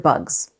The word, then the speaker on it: bugs: The b u g part is purely phonetic. The sounds match up exactly to the letters. /b/ is spelled with b, /ʌ/ is spelled with u, and /g/ is spelled with g. But that final sound, /z/, is spelled with an s.